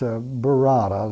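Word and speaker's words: Burarra: Well, the l the language um um is is best known as Barada. that's spelled B U R A R A.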